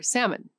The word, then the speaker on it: salmon: Or salmon, silent L, no explanation offered.